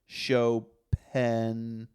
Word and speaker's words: Chopin: up practicing way longer PS shopen is pronounced showen s h w- p-n with a kind of almost silent I don't know Chopin Chopin